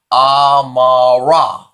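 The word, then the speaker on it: אמרה: If I add the final what? I add a kwamez and a final hey, then it would be pronounced amara, amara, which would be she said.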